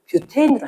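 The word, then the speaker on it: butane: 근데 과학 시간에는 이걸 발음을 뷰태인으로 하는 거야. 학생 때는 교과서도 부탄이었거든.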